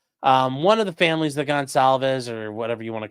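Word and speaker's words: Goncalves: He then murdered Kaylee Gonsalves, which I didn't realize that's how you pronounce that, but okay.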